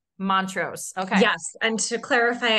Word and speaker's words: Mont-Ros: Montrose. Montrose.